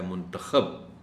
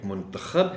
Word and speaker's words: منتخب: لفظ بولا ہے منتخب، اس لفظ کے بھی دو تلفظ ہیں، ایک منتخب ہے اور ایک منتخب ہے۔ منتخب کا مطلب ہے کہ انتخاب کرنا، اور منتخب کا مطلب ہے کہ جس کا انتخاب کیا گیا ہو۔ بہتر تفہیم کے لیے